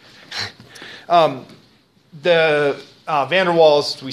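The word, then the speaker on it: van der Waals: use something like the vandals equation vander's equation okay pronounce it right it's probably funerals right V is pronounced like a f w is pronounced like a V right um the uh Vander wals we say in English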